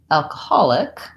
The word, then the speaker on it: alcoholic: to make this word alcoholic, a couple of things change. First of all, the syllable stress changes. So in alcohol, I have first syllable stress. In alcoholic, I have alcohol, third syllable stress.